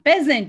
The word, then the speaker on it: peasant: Yes, the first one, peasant, it's correct.